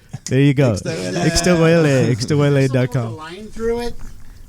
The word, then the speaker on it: Ixtahuele: It's all Ixtahuele.